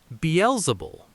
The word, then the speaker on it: Beelzebul: Beelible.